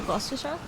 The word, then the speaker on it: Gloucestershire: Americans usually say like Gloucestershire, but it's not that.